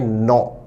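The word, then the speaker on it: gnaw: उच्चारण पर ध्यान दे शब्द जी एन ए डब्लू में जी साइलेंट रहता है उच्चारण है नो जैसे अगर आपकी किताब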